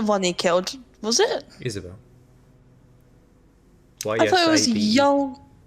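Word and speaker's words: Ysabel: he killed was it isabelle young y-s-a-b-e-l oh is that how you pronounce it isabel yeah well i pronounced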